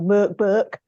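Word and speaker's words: Mörk Borg: really interesting we've got Mor Bor coming up in a couple of weeks or M Burk is it's correctly pronounced yeah I I just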